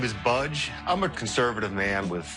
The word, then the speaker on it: Budge: It's actually Budge.